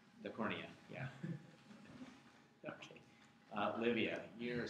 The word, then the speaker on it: cornea: It rhymes with retina, but it's a little bit cornier than the retina. The cornea? The cornea, yeah.